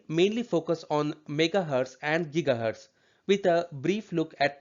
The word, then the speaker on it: gigahertz: Some people say gigahertz, but I think the pronoun correct pronunciation is gigahertz.